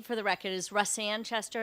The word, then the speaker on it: Russ Sanchester: no questions thank you okay the chair recognize roussan chester and uh supports the bill am i saying